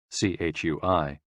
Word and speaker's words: chui: associated with the lungs c-h-u-i pronounced like chui with a forceful exhale which is also associated